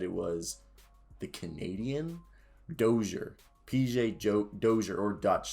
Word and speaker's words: Dozier: to say this closure dozier pj pj dozier tell me if i said that correctly i used to say doji air but that was supposedly the french way and his is more